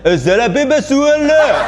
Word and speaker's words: 薩拉·賓·馬舒爾·阿勒: 那阿拉伯发音大概是这个样子的，萨拉宾马舒尔勒，OK。